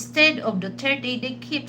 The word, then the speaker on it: Duterte: It doesn't really matter the tone, but they have to pronounce it correctly. Not Dutert. We don't have President Dutert but we had President Rodrigo Roa Duterte because even though you